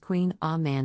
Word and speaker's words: Kouign Amann: a variation on a traditional pronunciation queenamon is pronounced Queen a man in French the name can be a bit